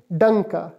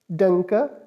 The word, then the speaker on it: Danke: Next one जो है thanks, thanks को स्पेल इस तरह से करेंगे, DANKE, और इसको प्रोनाउंस इस तरह से करेंगे, डंका, डंका, वेलकॉमेन और डंका, वेलकॉमेन फॉर वेलकम, डंका फॉर थैंक्स, डंका।